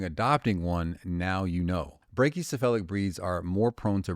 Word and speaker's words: brachycephalic: There's no O in there. All right. Brachycephalic. Okay. People just word salad it.